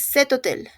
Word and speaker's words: cet hôtel: Es cet hôtel. Cet hôtel. Empezando ya sea por H muda o vocal, se hace la liaison.